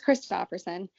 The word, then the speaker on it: Christopherson: Christopher Sarah Christopher Christopherson Christopherson is that right yep it's kristoferson and that's spell um